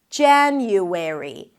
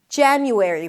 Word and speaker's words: January: January. January. Primary stress is on the first syllable. Even the A sound at the beginning leans towards the E, January, because there is an N